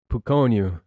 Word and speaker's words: Pukonyu: His name was Pukonyu. Pukonyu. It might spell it. If you look at the spelling, it says Pukonu, which is neat because it's kind of got Uno in there.